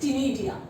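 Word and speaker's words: ctenidia: Which is known as टिनिडिया। इसमें सी silent रहता है, टिनिडिया।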